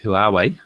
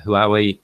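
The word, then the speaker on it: Huawei: filly new phone and say who are we that's how you pronounce it who are we p8 light and with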